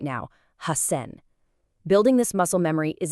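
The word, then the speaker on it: 八千: It's hassen. The s turns into a really strong held double s. Hassen. I urge you to just repeat that aloud right now. Hassen.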